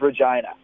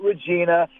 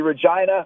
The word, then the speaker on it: Regina: than the way it is supposed to be pronounced, which is Regina. Not Regina, not something that begins with a V. It's going to be Regina, Regina, Regina.